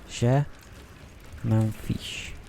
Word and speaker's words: je m'en fiche: Je m'en fiche.